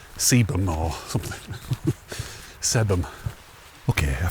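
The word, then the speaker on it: Sebergham: It's probably pronounced Sebum or something. Sebum. Okay, I found out later that it's actually pronounced Seberum.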